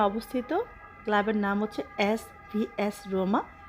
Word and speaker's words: Roma: ক্লাবের নাম হচ্ছে SVS রোমা, যেটা ইটালিয়ান উচ্চারণ হচ্ছে SVS রোমা।